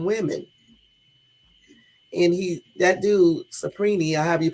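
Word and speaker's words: Cipriani: is likely we's friend restaurant magnet Jeffy s suprina whose properties the film morgo used to pray on women and he that dude supren I have you pronounce his name c i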